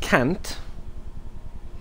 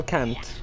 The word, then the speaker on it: Kant: If you don't pronounce the A as an A and more of a U, then it's a little bit different of a situation.